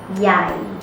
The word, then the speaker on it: ใหญ่: มีไซส์ใหญ่ ใหญ่ This is low tone.